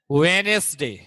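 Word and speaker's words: Wednesday: अब हमारा 3 अप्रैल से वेडनेसडे, अच्छा इसे क्या पढ़ते हैं, पढ़ो, वेडनेसडे, डी साइलेंट होता है इसमें, वेडनेसडे।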